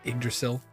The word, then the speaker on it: Yggdrasil: It was Yggdrasil Union, and I asked somebody how to pronounce it, and they're like Yggdrasil, it's like egg almost.